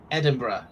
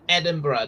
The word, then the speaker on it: Edinburgh: I know it's that it's not said it's it's about Edinburgh not Edinburg um oh yeah and